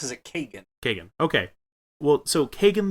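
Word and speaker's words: Kagen: just about to come out uh called called Kagan the Damned it's k a g n maybe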